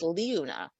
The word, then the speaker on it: Liuna: Well, I just noticed in the chat that apparently Liuna is pronounced Liuna.